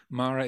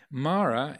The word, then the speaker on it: Mara: means the deathless realm Mara is said like my name I'm Amara Amara means deathless Mara is